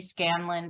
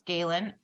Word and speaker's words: Scalan: The longest time my brain kept telling me Scanlon, but it's Scalan, is going to lead us through the process.